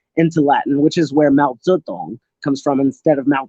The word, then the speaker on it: Mao Zedong: Latin, which is where Mao Zedong comes from instead of Mao Zedong. It's Mao Zedong, which is the proper one.